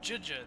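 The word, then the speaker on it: Zhezhi: Juja, that's how you pronounce her name.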